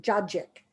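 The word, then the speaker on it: cacık: c is it's got is pronounced with a j so they so call it judgic which is basically satsiki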